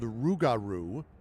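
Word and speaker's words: rougarou: Um, so it's kind of like kangaroo.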